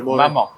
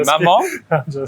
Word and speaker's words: maman: You have to say maman. So maman is mom in French.